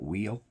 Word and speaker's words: WEOL: My abbreviation or acronym for that is simply WEOL. I pronounce that wheel.